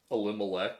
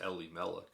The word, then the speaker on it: Elimelech: more closely related to elimelech or actually i believe it's pronounced ellie malek he's even more closely